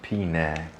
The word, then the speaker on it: Penang: We probably pronounce it Penang. It's actually pronounced Penang.